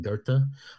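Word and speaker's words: Goethe: back to right so getting into Gerta or goth right go t h um the Germans pronounce it Gerta um but they he's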